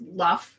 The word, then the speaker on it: Lugh: or Lu. Which it could be pronounced Luff because it's Lugh, like Lunasa.